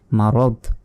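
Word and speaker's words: مرض: আমরা থামতে পারি তো এখানে যদি থামি তাহলে শেষ অক্ষরে সাকিন দিতে হবে তাহলে মারব র দর এভাবে উচ্চারণ হবে মারদ আর যদি না থামি তাহলে দই পেশ দুন এভাবে উচ্চারণ হতো এবং মানে একইভাবে যখন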